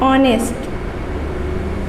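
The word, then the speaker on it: honest: क्योंकि यहाँ पे एच जो होता है हमारा साइलेंट होता है, ठीक है, यहाँ पे एच हमारा साइलेंट होता है और हम लोग इसको क्या बोलते हैं, इसका प्रोनाउंसिएशन करते हैं ऑनेस्ट, ठीक है।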